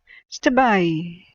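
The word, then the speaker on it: Stabiae: I'm wondering if they had the AE at the end as a silent thing for a Latinized pronunciation, but I don't know. When I was there, I think I remember the locals, modern day, pronouncing it Stabai, with that accent.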